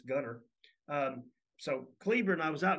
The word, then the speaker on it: Gunter: I remember the first time I went to what I thought was Gunter, and it's Gunner.